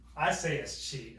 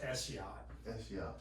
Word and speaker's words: escheat: Escheat means, I say escheat, okay? The word is pronounced eschiat.